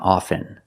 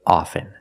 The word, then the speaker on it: often: words soften and often with both words I don't pronounce a t i say soften and I say often but sometimes you'll hear people say often and it's not wrong it's okay people say both often and often I prefer often now